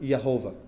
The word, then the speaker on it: Jehovah: But there is in the J in German is a yes sound. So when they wrote Jehovah, they pronounced it Yehovah.